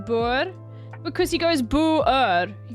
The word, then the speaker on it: Boer: He adds an extra syllable where there's no syllable. He goes Boer. Boer, mate. Yeah, like poor.